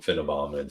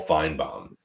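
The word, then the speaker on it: Finebaum: don't know why you're calling him fom sorry he prob he probably heard me Mis mispronounce his name it's Paul fine bomb those satellite dishes who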